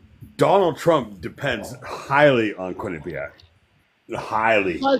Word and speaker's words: Quinnipiac: So Quinn Quinn Quinn Quinn and Quinnipiac.